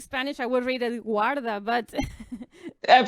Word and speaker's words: Guarda: I speak Spanish, I would read it Guarda, but... I'm pronouncing Guarda.